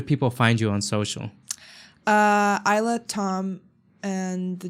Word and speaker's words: Ajla: Ajla Tom, and the J is silent, but it's AJLATOM. The J is silent like Jane.